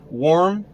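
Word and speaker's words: Warm: Herman Kermit, worm, it's pronounced like worm, is going to die.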